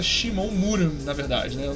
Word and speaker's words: Shimon: É curioso que é Shimon Muran, na verdade acho que a pronúncia é Shimon Muran, na verdade, né?